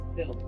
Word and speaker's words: Thgil: He tells them his name is Till, but it's spelled Thgil.